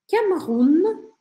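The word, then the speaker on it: Cameroun: Camerun, Camerun. E aqui é um detalhe, a gente acaba pronunciando esse N mais fechadinho. Camerun, Camerun. Que são os camarões.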